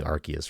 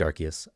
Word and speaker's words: Arceus: Okay, I liked Arceus. I think it was a fun, like. It's a hard C.